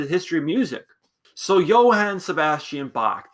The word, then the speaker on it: Johann: So Johann Sebastian Bach, the J is pronounced a little different.